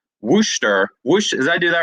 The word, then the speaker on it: Worcester: to pronounce this right worcester did i do that right worcester no you'll correct me but worcester okay worcester worcester massachusetts like w-u-h stir like you're stirring up massachusetts and uh for those